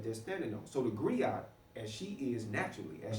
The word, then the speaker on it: griot: And it's pronounced different ways, griot, griot, you know, certain forms or what have you in different places. But from the diaspora worldwide, it's recognized as a griot.